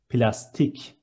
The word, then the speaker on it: plastik: Next one, plastic is plastik. C becomes K, and it is plastic.